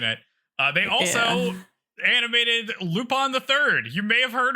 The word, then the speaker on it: Lupin: uh they also animated lupon theii you may have heard of it you don't pronounce it Lupin Lupin lupon I thought about naming